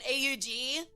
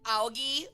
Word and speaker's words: AUG: It was an AG, like an aug, and he kept pronouncing it like Auggie or something like that.